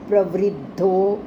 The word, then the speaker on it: प्रवृद्धो: कालोस्मि लोक क्षयकृत प्रवृद्धो, यहाँ गलती ना करना, ध्यान रखना, प्रवृद्धो, पहली लाइन में प्रवृद्धो, बड़ा हुआ।